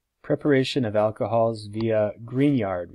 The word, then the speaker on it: Grignard: preparation of alcohols via green yard reagents spelled grignard pronounced grignard grignard reagents take the